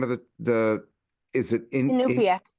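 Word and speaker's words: Iñupiaq: do you say the name of is it Inupiaq. Inupiaq?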